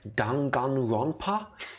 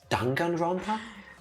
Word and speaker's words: Danganronpa: about the script and they said dun gun ronpa oh but i thought it's danganronpa oh it's danganronpa i think at this point we gotta accept that we've been mispronouncing it the entire 300 hours nah they are